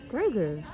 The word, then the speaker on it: Grogu: we have a name farah grow groove no grogu grogu yeah and he says huh every time